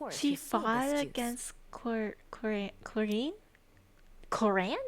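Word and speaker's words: Clorinde: Coran, that's how you pronounce it. I would call it chlorine or call her chlorine.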